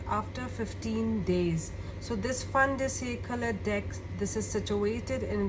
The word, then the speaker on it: fin de siècle: So it is pronounced, if in French I call it, it's fin de siècle, Kipper.